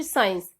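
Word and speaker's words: science: सीन, Saint या फिर साइंस। इसमें भी एस के बाद सी आ रहा है तो इसमें हम सी को साइलेंट रखेंगे, सी इसमें हम नहीं बोलेंगे।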